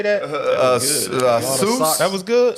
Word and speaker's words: Sioux: Sioux. That was good. Sioux.